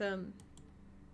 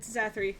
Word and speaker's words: Zathri: There isn't one, but I don't know how to say words, so it's Zathri.